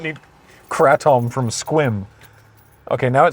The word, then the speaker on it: Sequim: Quick pit stop for gas and food in Squim. Is it Sequim? Or is it Squim? It's spelt Sequim, but everyone pronounces it Squim.